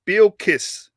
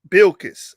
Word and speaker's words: Bilkis: i'm saying he says how to pronounce that word is bill kiss bilkiss all right they called her